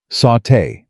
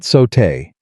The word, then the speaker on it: sauté: Sauté, she said firmly. Not sotay. The accent is on the second syllable.